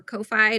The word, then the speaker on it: Ko-fi: So have you tried coffee or Ko-Fi? None of us know how to say it. We should just figure it out. We should figure out how are we meant to say that? I don't know. It's Kofi, but they have a shop capability as well.